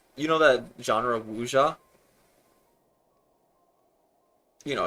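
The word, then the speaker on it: wuxia: So, it's a very weird game because it's, you know, that genre of Wuja, you know, it's like say again, wuja. It's spelled like w u x i a.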